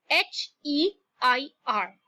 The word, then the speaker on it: heir: Now look at the word H-E-I-R. It's pronounced as heir. The H there is silent.